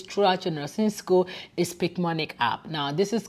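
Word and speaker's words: Picmonic: you can use throughout your nursing school a speak manic app now this is called this is spelled p-i-c-m-o-n-i-c uh this app honestly especially if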